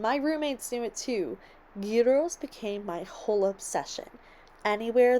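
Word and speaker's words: gyros: out this restaurant that served guos now I've heard of Jos or gyos here in America and of course hearing from Tong that this was the correct pronunciation my roommates and I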